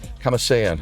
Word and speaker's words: Kamasean: Kamasean, I got that name right, please? Yeah, yes. Kamasean, you said it right.